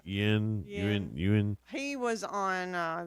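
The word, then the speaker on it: Yeun: Y-E-U-N. You said it right. Yin.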